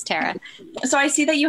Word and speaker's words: Tara: My parents call me Tara. Tara sounds very regal, but it's Tara.